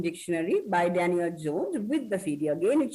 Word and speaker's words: Jones: Remember, it is not Daniel Johns, it's Daniel Jones.